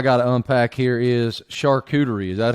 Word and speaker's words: charcuterie: Another thing that I got to unpack here is charcuterie. Is that how you say it? Charcuterie. It's a U, not a ooh.